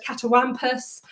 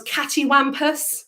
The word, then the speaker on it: catawampus: lips around the word catawampus it can sometimes be spelt and pronounce cattywampus so see a TTY w a.m.